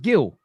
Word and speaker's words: Gil: Is it pronounced Gill? Yes, it's Mark Gill.